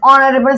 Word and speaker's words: honorable: coming from this o h is silent over here that's why we will use a an n s is an honorable citizen I think now